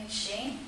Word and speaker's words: McShane: and also we get your name mcshane is that how you pronounce it yes uh and also to